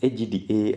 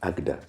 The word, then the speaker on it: AGDA: for you from agda it's pronounced agda as a word agda hello are you still